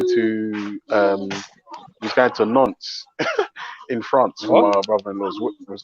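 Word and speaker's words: Nantes: n t s French the French pronounce it non like by yeah also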